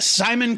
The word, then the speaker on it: Szymon: I'm sure it's pronounced Simon. It's Simon.